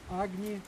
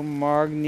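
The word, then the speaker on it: अग्नि: Ом Хур Агни Намах. Ом Хур Агни Намах. Это одна из мантр огня. Вот. Ом. Хур. Агни Намах. Ом. Хур. Магни. Не Намах. магни, а агни.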